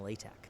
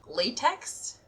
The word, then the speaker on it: LaTeX: my job is using LaTeX. Latex? LaTeX, although it is spelled L-A-T-E-X.